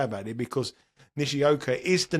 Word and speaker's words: Nishioka: So you've called him Nishikai or something in previous years, weeks, months, whatever. It's definitely Nishioka.